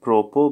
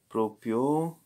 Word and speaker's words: proprio: The animal, l'animale mangia, it's on, so il pro, it's not propo, but proprio, il proprio cibo.